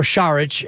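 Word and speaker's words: Šarić: a big man because sarich or shich as uh Bobby Fitz would have us all pronounce it correctly I believe so it's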